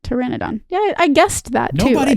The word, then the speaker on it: Pteranodon: No, it's the P is silent like pterodactyl.